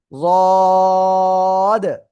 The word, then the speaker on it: ض: জিহ্বার গোড়া, গোড়ার কিনারা উপরে মাড়ির দাঁতের সাথে মুখ বন্ধ রাখেন, দেখেন অটোমেটিক লেগে আছে। ওই অবস্থায় আপনার কি করতে হবে? উচ্চারণ করতে হবে রদ।